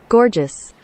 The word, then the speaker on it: gorgeous: দেখেন গুগল সহজ করে উচ্চারণটা লিখে দিয়েছে, গর্জাস। Gorgeous.